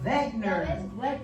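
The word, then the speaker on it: Wegener: We got to pronounce with a Z like a vagner. Although it has a W on it, but it has begner.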